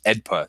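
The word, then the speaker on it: AEDPA: act or AED pa now this law is always referred to as EDP that's just how it's how lawyers pronounce this act this this law so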